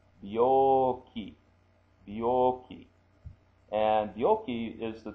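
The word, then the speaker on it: 病気: And it's pronounced B, that's he with a two ticks, becomes B, he becomes B. Bio, bio, and it's elongated vowel. Bioki, bioki.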